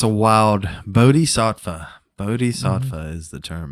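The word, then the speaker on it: bodhisattva: with you yeah yeah a it's a wild bod SATA bod SAA is the term and I finally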